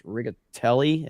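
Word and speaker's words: Riccitiello: His name is John, I think it's Rigatelli is how you say it.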